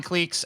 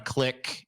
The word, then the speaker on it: clique: goddamn word social clique it's not a click it's a clique everyone's wrong so [